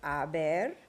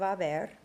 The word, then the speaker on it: haber: Well, here are the forms of haber. Yo he, tú has, usted, él, ella, ha, nosotros hemos, vosotros habéis, ustedes, ellos, ellas, han. Remember not to pronounce the H.